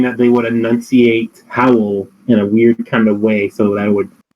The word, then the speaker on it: Howl: so it's a syllable, they would say Howell, so it would take up two syllables because that's how Howl is pronounced in Japanese, so it would match up better with the lip flaps.